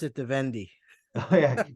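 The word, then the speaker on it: Vendée: how do you pronounce that vde I always pronounced it the vendi yeah d and d e with an accent another e v day yeah and uh and there maybe 100,000 people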